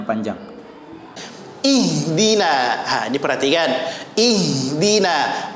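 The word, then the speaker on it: اهدنا: panjang wih gila diperhatikan ihdina aja Ki membaca eh denae tidak tepat sempurnakan batas bawah ih bunyinya bukan eh ya Ih dinas hirohman ya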